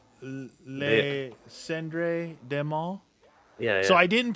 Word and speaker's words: Les Cendres du Mal: Les Cendres du Mal. Oh. I listen fluently. Yeah. Don't pronounce the S. Les Cendres du Mal.